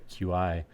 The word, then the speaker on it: Qi: But so I noticed something during the announcement too, in that I believe there's multiple I guess it's pronounced key. I always said QI.